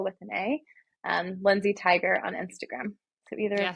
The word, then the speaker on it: Tigar: can go to the tiger agency tiger is spelled with an A but pronounced like the animal so t-i-g-a-r and then I am Lindsay also with an a um Lindsay tiger on Instagram so either